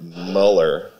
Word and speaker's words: Mueller: So I got a job at this guy's restaurant named John Mueller, or as he pronounced it, Muller.